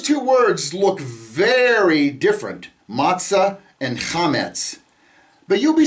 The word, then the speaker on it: matzah: Uh, the words for leavened bread and unleavened bread, uh, unleavened bread is matzo or matzah.